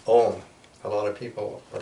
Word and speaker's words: Om: The M is pronounced with an N, Om, like that.